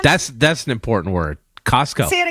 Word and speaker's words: Costco: Costco. Why we don't say the T? Costco. That's a good question. I don't know why.